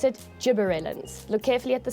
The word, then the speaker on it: gibberellin: because that's what bigi likes to do we pronounce it gibberellin look carefully at the spelling okay um the